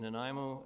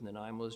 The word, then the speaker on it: Nanaimo: Uh they also joined members of Naimo's Japanese Cultural Associ known affectionately as the seven potatoes society as the pronunciation of the Naimo in Japanese approximates seven potatoes.